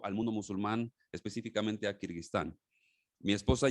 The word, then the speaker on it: Kirguistán: donde sacristán y a veces ni siquiera podemos pronunciarlo es complicado el nombre de kirguistán pueden decirlo conmigo dónde están algunos dicen que